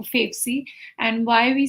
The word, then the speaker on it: Favcy: so yes you're right uh favy is the short form for favorite currency I always uh tell that to people because that helps them pronounce the word better so favorite currency that gets you favy and why we say